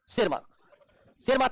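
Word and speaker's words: Tschermak: 3 वैज्ञानिक में है हुगो डिब्रीज, दूसरा है कार्ल कोरेंस और इरिक वन शेरमार्क में टी साइलेंट आता है इनके नाम में।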